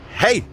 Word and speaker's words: Haigh: poshest parts of wigan this town is called hey let's let the traffic pass i'm sure it sounds louder than it does for you guys for me it sounds louder for me but it's pronounced h-a-i-g-h hey there's a hall here and it won some